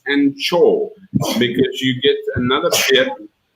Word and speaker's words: Angkor: And yeah, the two boards over there, one says Angkor, which in Cambodia is pronounced Anchor, because you get another beer.